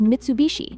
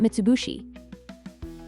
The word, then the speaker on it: Mitsubishi: It's pronounced Mitsubishi, not Mitsubishi.